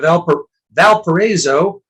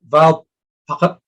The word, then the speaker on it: Valparaiso: In Indiana, we have Valparaiso, I've heard, but to be totally correct, I'll pronounce it Valparaiso.